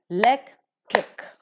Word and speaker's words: electric: Accordingly, electric, trisyllabic word it is. The syllable before the suffix trick is lek and so l is given the stress and accordingly the pronunciation is.